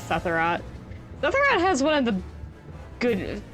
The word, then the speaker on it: Sephirot: Yeah, Sephirot's pronounced Sephirot.